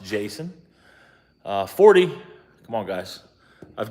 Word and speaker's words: Jayceon: Jayceon. I imagine it's pronounced Jason.